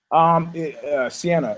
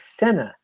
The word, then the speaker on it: Senna: It was Senna. It's spelled S-I-E-N-A. No, it was spelled S-E-N-N-A. The race car driver. Really? Look it up. I am. Yeah, Senna, race car driver, not Sienna.